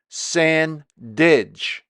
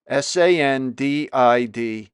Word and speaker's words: Sandidge: I mispronounce Deb's name. It's Deborah Sandidge. Sandidge.